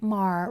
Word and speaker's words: Maher: This one is from Bill Maher rhymes with Jar uh his Real Time with Bill Maher segment uh or show on HBO.